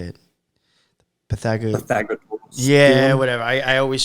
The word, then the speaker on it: Pythagoras: And then I put up the Pythagor. I forgot how do you say it. Pythagor. Pythagoras.